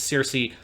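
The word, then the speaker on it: Circe: comes with the name the kirky squad or people might be more familiar with the general english pronunciation is cersei she is the enchantress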